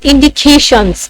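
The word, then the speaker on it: indications: तो इन और डी पर मैं स्ट्रेस नहीं दे रही हूँ, अगर मैं स्ट्रेस दे रही हूँ तो किस पे, केशन, सी ए पर।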